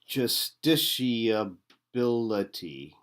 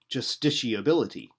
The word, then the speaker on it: justiciability: All right, justiciability. Justiciability. All right, justiciability. Or justiciability. Okay, so we're going to say it properly. I mean, the thing is here, it's like vegetable.